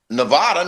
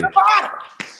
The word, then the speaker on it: Nevada: and I'm in the studio and I've always pronounced Nevada Nevada okay Nevada and so at halftime my producer says you